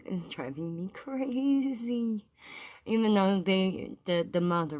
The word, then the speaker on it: Eve: her name is not Eevee Frank okay there is no Eevee Frank her name is Eve Frankie okay yeah that's right in